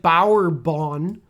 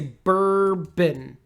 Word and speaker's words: bourbon: popular in the U.S so it looks like Bauer Bond let's say bourbon bourbon okay bourbon how